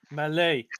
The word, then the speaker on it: Mallet: the melody mellate mallet malay french name oh you don't pronounce the t okay look motherf yeah